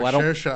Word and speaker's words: Mahershala: Mahershala Ali, I think is how you say it. Yes, thank you. I could not pronounce his first name.